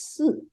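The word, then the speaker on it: 四: But 4 is the unlucky number because it's pronounced as Si, as a death.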